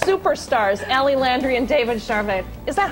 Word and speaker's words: Charvet: Up next, superstars Ellie Landry and David Charvet.